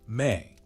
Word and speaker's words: me: What the Sumerianss called me, pronounced may the divine decrees or fundamental principles that governed everything from kingship to basket weaving.